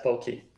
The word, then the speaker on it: Palqee: Primeiramente, eu pronunciei certo o nome da empresa? É Pauqui? Correto, Pauqui.